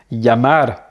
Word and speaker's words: llamar: Cahier, cahier, rue, lleno, lleno, plein, llover, llover, pleuvoir, pollo, poulet, llorar, pleurer, billete, billet, llamar, appeler, et castillo, château.